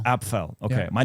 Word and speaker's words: Apffel: Apffel. Apffel. Okay. Yeah. by the way. So I've been mispronouncing your last name.